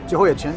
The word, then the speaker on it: Jehoiachin: And I'll let you pronounce them for me. Jehoiachin, is that correct? Jehoiachin, yeah.